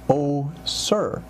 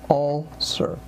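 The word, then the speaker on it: ulcer: is very important uh often times I hear the word uler pronounced o sir o sir rather than all sir the th sound again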